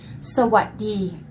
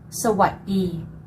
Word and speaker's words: sawadee: Okay, and I think most people do know this, but let's get the pronunciation right. Sawadee. Sawadee. And I'll give you the 2 versions. For female, sawadee ka. For male, sawadee krap.